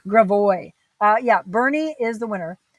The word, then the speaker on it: Gravois: Let's say Gravois. Gravois. Yeah, Bernie is the winner. How do you mispronounce?